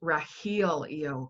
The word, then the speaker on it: Rahelio: drew me to you before was how it's pronounced Rahil yo because it has that heal energy in it